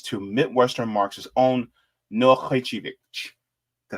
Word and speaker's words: Khrachvik: hello and salutations to Midwestern Marx's own Noah Khrachvik.